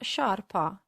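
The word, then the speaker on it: sciarpa: as you can see they only differ for the letter i which makes a huge difference because the i tells us that instead of a heart sound scar we need to soften the sound and pronounce sha as a memory tip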